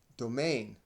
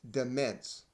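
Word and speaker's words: demesne: to be seized in domain now the word reads dements because it is spelled d-e-m-e-n-s-e but is pronounced but is pronounced domain or in another case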